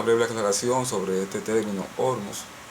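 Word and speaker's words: Ormuz: Ormus y es que la pronunciación correcta, según lo que se escucha internacionalmente es Ormus. Y este es un nombre persa. Los iraníes su idioma es el persa o farsi o farcí. Y como no conocemos de ese idioma, pues yo me siento más cómodo pronunciando ormos y así lo digo.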